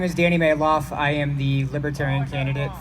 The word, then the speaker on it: Malouf: my name is danny mayloff i am the libertarian candidate for oh that's right looks like maloof it's pronounced mail off in my family um candidate for u.s